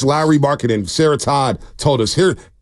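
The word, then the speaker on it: Markkanen: of having Lowry marketing okay and yes it's Lowry marketing Sarah Todd told us here for everybody confused on how to pronounce lry marketing because people are telling us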